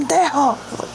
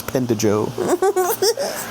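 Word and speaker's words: pendejo: or are you like pendo oh you said it wrong it's pend Joe oh thank gosh I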